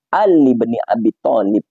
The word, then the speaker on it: Ali ibni Abi Thalib: tetapi itu tidak alifnya itu hamzahnya itu tidak dibaca sehingga cara bacanya Ali BNI Abi Thalib Ali Ali begitu Ali